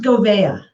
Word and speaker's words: Gouveia: It's pronounced Gouveia. Gouveia, I love it.